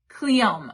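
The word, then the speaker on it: Cleome: And then also uh the Cleonom Cleom Cleom I How do you pronounce that? how to pronounce Cleom. Cleom.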